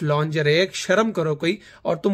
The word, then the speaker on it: lingerie: मैंने कहा हाँ यार सीरियस है, ये देखो लिंगरी लिखा हुआ है लिंगरी। वो कहती है इट्स कॉल्ड लॉन्जरे। मैंने कहा लिंगरी है, अबे स्पेलिंग्स नहीं तुम्हें पढ़ने आते सही। कहती है नहीं अहमद इट्स लॉन्जरे, शर्म करो कोई, और